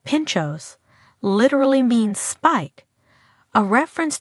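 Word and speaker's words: pintxos: Pimpos pronounced pinchos literally means spike, a reference to the skewer or toothpick used to secure the delicious toppings to a slice of bread.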